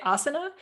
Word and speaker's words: asana: So I see it and I say asana, because that's how you say it in, Sanskrit.